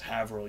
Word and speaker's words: Haverhill: It's Haverhill, yeah, fuck. Haverhill. Because in Massachusetts, you don't have to pronounce all the letters.